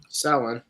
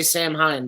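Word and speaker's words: Samhain: right and Salon is what's the cor correct pronunciation Salon Salon yeah in the game they say sam Hine but that's just them not doing their research yeah pronounced phonetically that way but I spelled phonetically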